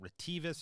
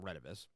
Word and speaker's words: Retevis: So, Retivis, Retevis, some people call it Retevis and some people call it Retivis. I believe it's pronounced Retivis. I'm 99% sure.